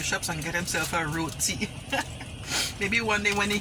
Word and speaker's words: roti: you eat Roti and this is how you pronounce Roti thanks for watching thanks so much for watching